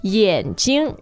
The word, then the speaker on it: 眼睛: Actually, a lot of people pronounce 睛 as first tone and it should be on its own, but if you look up the dictionary, 眼睛 is third and neutral.